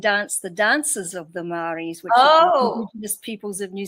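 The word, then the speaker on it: Māori: How are you uh how did you go from being in the is it Mayori? Am I saying it right? Mari but actually I wasn't in the indigenous tribe.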